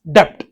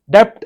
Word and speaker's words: debt: So please don't ever pronounce it as debt. Depth is a wrong pronunciation.